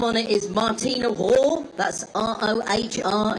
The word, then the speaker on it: Rohr: The name on it is Martina Rohr. That's R-O-H-R. If my A-level German is still functioning, I think that pronunciation is correct.